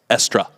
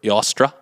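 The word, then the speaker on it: Ēostre: Anyway, the Anglo-Saxons worshipped the goddess Estra. Or Yostra. Yostra? Yostra. Okay. Or Sounds like Esther. Esther. Okay. Yeah, there's a bunch of different pronunciations of it.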